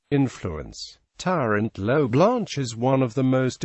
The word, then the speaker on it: Tirant lo Blanch: in modern valentian is Tyrant L Blanc but it is also referred to by its original spelling Tyrant L Blan where the H is silent influence Tyrant low blanch is one of the